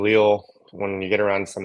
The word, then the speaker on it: Leal: We grew up saying Leo. When you get around some other people they pronounce it Leal.